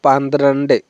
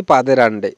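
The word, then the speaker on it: പന്ത്രണ്ട്: next দেখব 12 তো 12 কে আমরা বলব পান্দ্রান্ডে ওকে বন্ধুরা তো আমরা বেশিরভাগই কিন্তু বলে থাকি পাদের আন্ডে তো পাদের আন্ডে উচ্চারণটা কিন্তু সঠিক না তো পাদের আন্ডারে উচ্চারণটা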